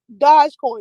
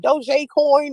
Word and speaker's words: Dogecoin: say it like that it's not Dodge Coin it's like do coin or some [ __